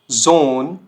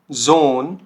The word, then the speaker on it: Sohn: अब ये क्या साउंड करेगा, देखिए तो ये साउंड करता है आपका, जो देखिए जी, जैसे हमारा वर्ड होता है जीब्रा, ठीक हो गया, जीब्रा। जैसे zum Beispiel Samstag, Samstag, Sohn, Sohn, Super, Super।